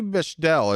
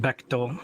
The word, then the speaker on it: Bechtel: I've been going with Bechdel. Is that correct? No, it's pronounced Bechtel.